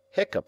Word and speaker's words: hiccup: Hiccup has the sound of cup.